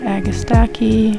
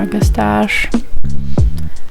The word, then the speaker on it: Agastache: Those little babies are Agastaki or Agastache, however you like pronouncing it.